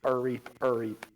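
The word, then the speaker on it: R'eep: Except there's an apostrophe, so the R is pronounced kind of separately. So, Reap, Reap.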